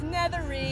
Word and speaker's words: Nethery: And I said your last name wrong, even though I just asked you. It's Nethery.